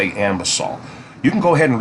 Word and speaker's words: Anbesol: You're going to see it written A-N, but it's clearly pronounced, in my opinion, A-M, A-M, Ambesol, okay?